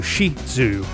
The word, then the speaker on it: Shih Tzu: Let's do Shih Tzu. The T is part of the second half, you know?